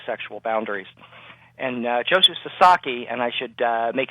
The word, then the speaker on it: Sasaki: who cross these sexual boundaries and uh Joseph Sasaki and I should uh make it clear it's it's pronounced Sasaki and uh Americans and Canadians uh sometimes have